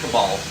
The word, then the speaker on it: Kabbalah: cabal or the kabbalah it's spelled kabbalah but it's pronounced cabal uh pronoun i believe